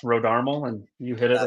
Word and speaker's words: Rodarmel: time nobody gets it right but yeah it's RH armal and you hit it right that's crazy that